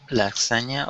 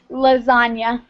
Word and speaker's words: lasagna: s what Las lasna lasagna lasagna lasagna uhhuh how do you pronounce that in English lasagna okay that's hard it it makes like a it makes a z sound lasagna okay I got